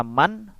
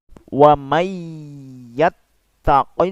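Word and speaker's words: ومن يتق الله: Tidak dibaca man, akan tetapi dilebur langsung dengan ya. Makanya di sana ditandai dengan tasdid. Biasanya ditandai dengan tasdid. Dan ini disertai dengan dengung. Jadi dilebur ditambah dengan dengung. Menjadi membacanya seperti ini. Wa may yattaqillaha.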